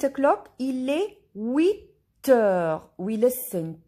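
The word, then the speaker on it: huit heures: Il est 8 heures. We listen T and H is silent.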